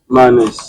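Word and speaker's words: Manes: en réalité c'est faire entrer en contact avec Manè Halloween ce qui tourne c'est Manè h c'est Manè on va un peu voir un peu Manè manè dans le dictionnaire tout tourne autour de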